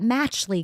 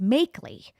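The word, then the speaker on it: Machtley: say oh yeah that matchly guy machley guy and his name was pronounced makeley and the way you spell it it looked like you pronounced it matchly so he was brilliant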